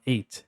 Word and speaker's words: eight: Você fala eight, eight, eight. É como se pegasse o a e só falasse o t. Então você fala eight, eight, depois se six five th.